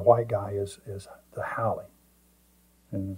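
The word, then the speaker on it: haole: refer to the white guy as as the holee and it's pronounced h o w l e e or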